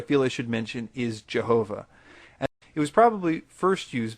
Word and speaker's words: Jehovah: would transliterate the letter I as J, because in Germany, when they wanted to say the yes sound, they most often used the letter J. Later on, as people read this German translation, they pronounced it differently because, for instance, the French looked at the same letter and pronounced it with a hard J sound, and the English speakers adopted the French practice.